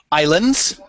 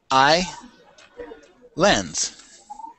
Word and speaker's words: islands: S this is English the S is silent in other words we don't say it at all so it would be I lens I lens I lens